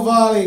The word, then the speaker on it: Varley: My name's Will Varley, kind of rhymes with Bob Marley, is how you can remember it.